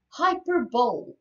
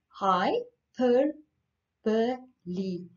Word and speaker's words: hyperbole: poems hyperbole i know when you read this word you read hyperbole but it gets pronounced hi per per li hyperbole it means um over